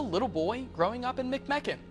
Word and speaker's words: McMechen: Somebody else in the comments said, I think it must have been a hillbilly that told me this, because they said it's pronounced McMechen.